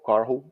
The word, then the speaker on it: Karhu: I got to get the rolling of the Rs in in your name. Yay. Caru. It sounds so much better. No, but it sounds so much better with in the proper pronunciation.